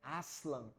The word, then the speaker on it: Aslan: termo turco para Leão eu pessoalmente o pronuncio como Aslan e obviamente não e